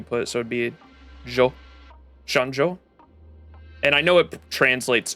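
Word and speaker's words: Xianzhou: is it sha Shan shanjo shanjo I think because the X X is pronounced like sh in Chinese right so Shan shanjo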